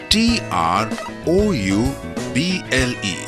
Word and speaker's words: trouble: read as ha so TR o u BL e is read as trouble and e and o